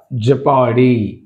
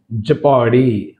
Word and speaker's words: jeopardy: ఇక్కడ jeopardy, jeopardy. O is silent here.